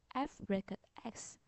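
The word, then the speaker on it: f(x): function machine using function the left hand side f x we usually pronounce as FX Which just means there's a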